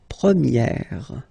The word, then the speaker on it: première: And then for the feminine form, you will get première. Okay, so it's open, this eh sound.